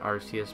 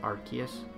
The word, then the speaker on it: Arceus: A lot of people pronounce it Arceus, but I think it's actually pronounced Arceus, according to the anime and Pokédex, 3D Pokédex Pro, which is a really good program, by the way, on 3DS.